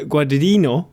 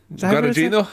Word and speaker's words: Guadagnino: But what if I told you director Luca Guadagnino? Is that how you pronounce it? Guadagnino, I think it is.